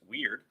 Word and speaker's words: wyrd: The term weird, an old Norse pronounced weird, how weird is that?